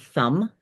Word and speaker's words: thumb: For example, the word thumb, t h u mb, that has five letters in it. We know that we don't pronounce the b sound.